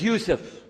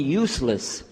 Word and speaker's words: Yusuf: ald my name is Yousef can you say Yousef said youf you're very good I wish You' teach my wife she keeps mispronouncing it she calls me useless alhamdulillah now how many of you were in